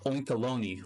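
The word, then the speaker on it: Oinkologne: A friend of mine said the name is pronounced Oinkalone, like baloney.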